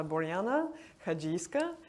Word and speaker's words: Boryana Hadzhiyska: Uh, so yes, the pronunciation of my name is uh, Borana Kajiska, so it's I think easier said than spelled.